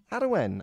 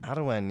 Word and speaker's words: Arwen: There's been a storm ravaging the UK called Storm Arwen. I believe it's Welsh. And Arwen. Arwen, yeah. Spell that name for me. A-R-W-E-N. A-R-W-E-N. Arwen to the layman. Arwen to the layman. Arwen to the Welshman.